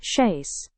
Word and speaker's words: chaise: First, it's pronounced chaise. It's one syllable and as SDS has already shared, it's French origin.